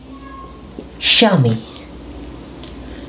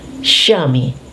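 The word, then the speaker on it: chamois: So the CH is pronounced as SH and this one is pronounced Shami. Shami.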